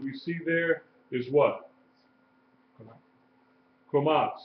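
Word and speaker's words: Kamatz: Komat. Say it out. Komat. It looks like a little T up under the letter. And it is pronounced like A in father, long A, commas, long A.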